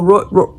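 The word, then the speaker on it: rooibos: This has key lime juice, ginger root powder, bock root, dandelion root, alalfa, melain, uh, nettle, moringa, elderberry, and oh, robo. Robo, I think I'm pronouncing that right.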